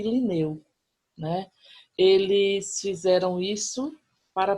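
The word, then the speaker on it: Lineu: É Carl von Linné, o nome dele, mas em pronúncia, Linneu.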